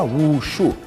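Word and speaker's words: wushu: termo japonês bujutsu e em chinês a pronúncia seria ucho que significa literalmente técnicas marciais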